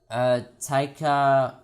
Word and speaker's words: Taika: It is tiger, but with a K, and instead of the ER at the end, you can put an A, so it's like Taika.